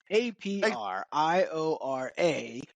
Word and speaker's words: Apriora: So prior is in the middle of two A's.